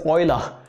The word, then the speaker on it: Euler: you should be good did you just say wheeler wheeler no no his name is oiler remember his name euler most people get this one wrong his name is verma